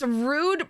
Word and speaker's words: Rude: Oh, it's rude pronounced like the word.